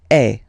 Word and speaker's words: es: Okay, and for tu, then you've got this combination of letters. Okay, but then basically the sound you will pronounce or you will produce is est.